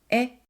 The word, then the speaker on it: へ: When the へ is used as a particle, it's pronounced as え, and it indicates the direction.